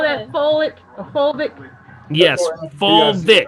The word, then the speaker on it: fulvic: Paul, can you spell that folic or fulvic?